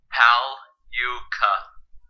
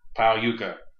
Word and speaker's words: Pagliuca: Pagliuca. Pagliuca. You just don't pronounce the G.